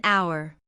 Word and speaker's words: hour: An hour. The word hour starts with the letter H, which is a consonant, but it has a silent H sound, so we use n instead of a.